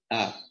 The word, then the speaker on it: economia: Economia. Não vai levar acento. Por quê? Porque a sílaba mais forte é o mi.